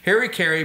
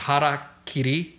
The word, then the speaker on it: harakiri: Harikari, but the Japanese, when I would use that term, actually is pronounced harakiri, the way it's spelled.